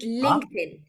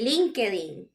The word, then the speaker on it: LinkedIn: famous uh social media the correct pronunciation would be LinkedIn LinkedIn LinkedIn but but for Spanish speakers we say linking exactly uh-huh but that